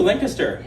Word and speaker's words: Lancaster: We say it correctly too, Lancaster.